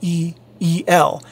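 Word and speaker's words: EE-L: by the ee and followed by the e e e l or as it should actually be pronounced eel sorry i really by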